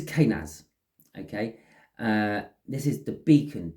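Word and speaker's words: Kenaz: This is, I weren't right with how to pronounce the name though. This is Kanaz.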